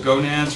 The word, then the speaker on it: gonad: All right, so there are also gonads. We're going to talk about those. I love leaving these sort of phonetic pronunciations on here. In case you did not know, gonad rhymes with monad.